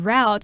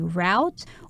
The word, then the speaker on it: route: to get there now this word route can be pronounced two ways you can either say route or route right when I was in